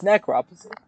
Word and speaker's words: necropsy: you say that hold on necropsy necropsy it's necropsy okay another term for autopsy what do you